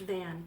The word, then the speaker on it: Vaughn: the locals pronounce it van because it's kind of a family name where I live here and the name is pronounced van but I constant bond